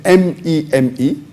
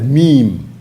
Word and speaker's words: meme: of the word is m-e-m-e it's pronounced as meme m-e-e-m but the spelling is m-e-m-e it's not pronounced as